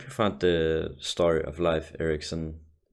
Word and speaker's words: Leif Erikson: found the story of Life Ericsson which live action the Danish way to pronounce it I hope you found